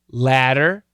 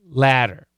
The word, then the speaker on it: ladder: to be fast bitter another great example typical example would be ladder ladder okay ladder ladder you cannot tell the difference only in context will you be able to know the difference okay so the flap t like i've said millions of times to my students and they know and a fast d are the same they're going to be